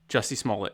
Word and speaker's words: Jussie Smollett: Jussie Smollett, I think. Juicy Smollett was an actor. Jussie Smollett. Jussie Smollett, yeah.